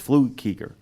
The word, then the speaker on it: Flukiger: his name because it's spelled Flukiger, is how it's spelled. It's Flukiger.